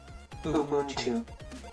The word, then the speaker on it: Ubuntu: Ubuntu and this speaker most probably will let us hear how you say how you pronounce it. So, let's try to hear it. Ubuntu Okay, I'm pretty close to it.